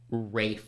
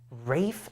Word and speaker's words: Ralph: Googling how to pronounce Rafe yeah it's Ray L is silent no way rape fines